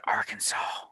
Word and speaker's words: Arkansas: They got one named Arkansas, but they pronounce it Arkansas.